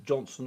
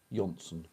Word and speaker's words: Jonsson: Is it Johnson or Jonsson? I think it's Jonsson. I think they pronounce the J Y. Jonsson.